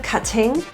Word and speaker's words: cutting: The T's in cutting are pronounced as flap T's. Those sound like a little bit of a D sound because they're surrounded by vowels in front and behind. So instead of cutting, cutting.